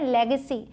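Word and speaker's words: legacy: बहुत ही आसन है लेग सी लेग पर के लिए जैसे लेग बोलते हैं बस सी उसके बाद लगा देना है मैजिशियन मतलब जादूगर मैजिशियन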